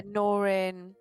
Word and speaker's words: Norin: Chasen's working on a Norian, I think, or Norin. I don't know how to pronounce it. Yeah, Norin.